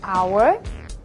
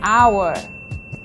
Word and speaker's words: hour: lot of and plenty use and before words that start with the silent h these are nouns like our and air and the adjective honest so we say an hour an air and an honest person do not use an